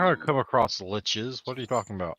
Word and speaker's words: lich: friends that pronounce lich as leech or leash. Yeah, no, Guess what? sucker. They're pronouncing it wrong.